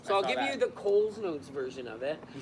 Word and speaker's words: Coles Notes: You used to say like Coles Notes. Like you added a D in it. Coles, C-O-L-E.